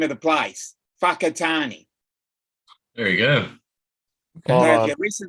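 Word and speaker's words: Whakatāne: i n e now the wh is pronounced as an F the w inner yeah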